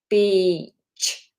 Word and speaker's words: beach: So, we don't want I, we want e. So, really extend that sound. B, just like a buzzy bee that might sting you, our pollinators be. And then we add the ch on the end. Beach. Beach. Okay, really important that we get that long vowel in there.